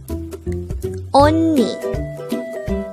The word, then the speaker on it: 언니: 74 on me this is pronounced as a two-syllable word the first syllable is on the second syllable is knee only pronounce it with me onni the word onni is